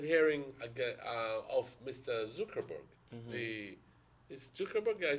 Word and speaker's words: Zuckerberg: Is Zuckerberg?